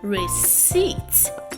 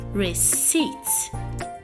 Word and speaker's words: receipt: made payments completely so the word is receipts and not receipts okay the p is silent receipts I hope you learned